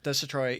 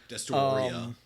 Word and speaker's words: Destoroya: Destroya, even though that's not how his name is spelled in English. Yeah, no. Destoroya.